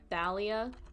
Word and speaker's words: Thalia: I call her Talia, I'm pretty sure it's Thalia. Yep. Thalia Grace. We're gonna call her Thalia because that's what I think her name is pronounced.